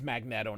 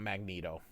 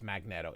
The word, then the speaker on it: Magneto: It's Magneto, not Magneto. I don't care what Stem Lee says. I don't care how everybody else and their mother pronounces it. It's Magneto. It's a magnet with an O.